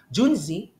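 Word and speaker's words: 君子: be what Juni okay Juni ju n zi Juni speaks to a moral person profound person Superior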